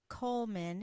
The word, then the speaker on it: Goldman: I thought the D was silent. It is pronounced Coleman, isn't it? We've had some confusion. Oh, yes, Coleman. The D is silent in America.